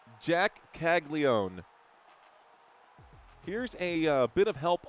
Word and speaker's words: Caglianone: So we'll just go with Caglianone. If the N is silent, then I guess it's silent.